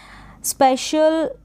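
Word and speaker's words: special: यहाँ पे इन चारों स्पेलिंग्स में फेशियल तक यहाँ पर आपको क्या कर देना है, सी दे रखा है, इसको श पढ़ देना है।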